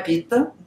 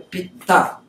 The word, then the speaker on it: Pitta: Vata, Pitta. Não é Pitta. Pitta é pai. É Pitta. Não tem esse tá. Pitta. Ah, é penetrante. Pitta. Pitta. Tá?